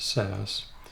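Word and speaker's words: Sass: and here's the new SAS SC CSS it's pronounced SAS and this is CSS this is the default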